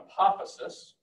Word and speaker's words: apophysis: That exposed diamond-shaped part of the scale is an apophysis, rhymes with hypothesis.